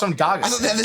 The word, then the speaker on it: Dagestan: No, he's just from Dagestan. anyone from anyone. How do you pronounce that country? Dagestan.